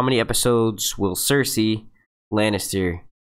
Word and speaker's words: Cersei: QA make a prediction how many episodes will Cersei Lannister it's actually pronounced Cersei but yeah last next season I think she's